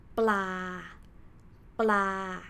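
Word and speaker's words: ปลา: So this one is pronounced bla, bla. See, I don't even like,separate the sound like ba la but I combined these two together so I pronounce it bla bla which means fish or another example this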